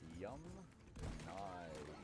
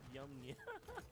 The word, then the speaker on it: Yamnaya: Yamnaya. Okay, so the Yamnaya people, not Yamnia.